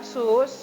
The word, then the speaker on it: choux: Dari satu adonan dasar sus, ya, ini bacanya sus, ya.